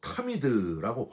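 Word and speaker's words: תמיד: 여러분 여기서 항상이란 단어는 히브리어 타미드라고 발음을 하는데요.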